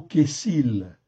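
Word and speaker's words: כסיל: C'est le deuxième mot en fait ici qui est traduit par insensé en fait ici et celui-là c'est le mot kessil.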